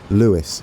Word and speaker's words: Lewes: in the comments I was gonna say it's Luis I believe him you have to meet correctly